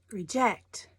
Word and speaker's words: reject: is about next one reject or reject this one emphasis is on the second syllable reject reject reject so